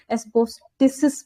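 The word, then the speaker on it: asbestos: Fourth हमारा है एस्बिस्टोस, ये कहाँ पे मिलेगा? किसी को प्रोनाउंसिएशन पता हो तो इसकी प्लीज सब बता दो। एस्बेस्टस एस्बेस्टस, okay.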